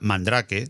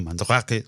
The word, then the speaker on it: Mandrake: manos una distribución que en español era Mandrake, no Mandrake, lo siento, pero no sabía pronunciarlo bien, era Mandrake, de leído tal cual, que con su KDE-1 me hizo descubrir este mundo del software libre.